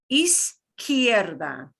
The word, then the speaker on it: izquierda: And it starts off with a zeta sound in the first syllable. Izquierda.